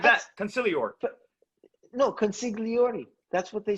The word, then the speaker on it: consigliere: Consigliere. Consigliere. I never heard that. I never heard it like that. Consigliere. No, consigliere. That's what they say. Oh, you said it in Italian.